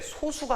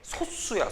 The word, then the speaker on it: 소수: 이거 선생님들이 발음을 잘못하시는데 소수가 아니야. 정확한 발음이 소수야.